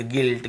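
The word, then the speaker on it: guilt: नहीं पढ़ना है ऐसे पढ़ना है गाइल गिल्ड गिल्ट गिटार guard biscuit अब यू के बाद वी वी लेटर साइलेंट नहीं होता है खत्म हो गई इसकी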